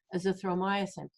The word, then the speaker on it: azithromycin: supposed to and they didn't they withheld the azithromycin right did i say it right this time